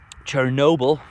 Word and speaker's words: Chernobyl: Chernobyl, that's how you pronounce it.